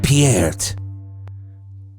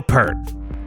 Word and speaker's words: Peart: It's pronounced Piert. For all you assholes out there pronouncing it wrong for all this time. Yep. It's not Neil Peart.